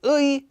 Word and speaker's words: 의: So you really only need to say ui whenever it's the exact syllable, ui, with the empty consonant.